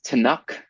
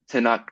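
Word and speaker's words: Tunnock's: It's called I think it's Tanuk tea cake.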